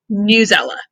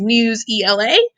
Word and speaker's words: Newsela: tech tutorial is about newsela um it can be pronounced many different ways news ela news ela i don't know i say newsela you say potato you know whatever uh